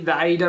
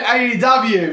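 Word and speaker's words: A&W: It's a cross between the AW root beer, which because I've had. You said AEW, but it's no, AW.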